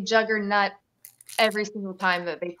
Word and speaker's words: Juggernaut: You say it like not. Juggernaut. Yeah. It's not that. Yeah. Okay, no, I just hear somebody say juggernaut every single time that they pull it, and it sounds serious to me.